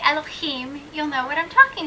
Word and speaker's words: Elohim: I have Elohim, so I have a little bit of an accent in there. Elohim. I'm kind of rolling that last syllable.